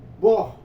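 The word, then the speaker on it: burn: termo do termo inglês bor ou Bur né a gente vê o u aqui mas é a pronúncia é bor bor né Eh que significa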